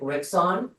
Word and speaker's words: Rixon: Rixon. I hope I'm pronouncing that correctly. Close. It's Rickson, like President Nixon, but with an R.